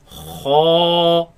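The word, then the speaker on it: خ: Kha, Kha, kha, kha, kha, kha, kha. kha. Now this letter comes from the top part of the throat.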